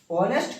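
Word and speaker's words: honest: तो इसी तरह यहां पे एच तो लिखा रहता है लेकिन एच यहां पे उच्चारण नहीं किया जाता है।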